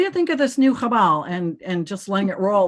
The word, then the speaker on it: Qabal: And the correct pronunciation is Chabal.